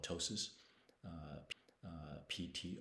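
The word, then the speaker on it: ptosis: bolox is uh called Tois uh uh PT o s i the p is silent um but that's where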